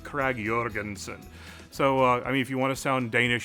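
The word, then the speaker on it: Krag–Jørgensen: to just sound American lots of Americans just say the J with a J so Craig Jorgenson it's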